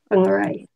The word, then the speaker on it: Whangarei: Whangarei. Yeah. That's where I used to live, Whangarei. Oh, yeah. Even though it's spelled WH. WH is an F, Whangarei.